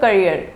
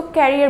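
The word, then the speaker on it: career: मैं बात करती हूँ, यहाँ पे जैसे एक लफ्ज़ है करियर, राइट? तो कुछ स्टूडेंट्स होते हैं उसको कैरियर बोलते हैं, कैरियर या फिर कैरियर। ठीक है, तो ये दोनों वर्ड्स जो है वो प्रोनाउंसिएशन में रॉन्ग है। एग्जैक्ट जो वर्ड है करियर होता है।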